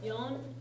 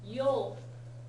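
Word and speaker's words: 四: So in the case of yon for example, yon is the normal reading for that kanji, right? Yol is an alternate reading for that kanji. She is another alternate reading for that kanji, right?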